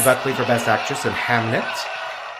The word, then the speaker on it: Hamnet: Which every time they say Hamnet, I think they're mistakenly saying Hamlet. Saying him. Yeah, and I'm like, hey say it right. Say it right. But turns out, folks, exactly, Pancake. It is right.